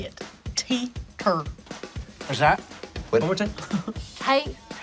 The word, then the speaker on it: Teeter: Teeter.